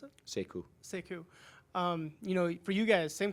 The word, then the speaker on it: Sekou: How do you pronounce it? Sekou.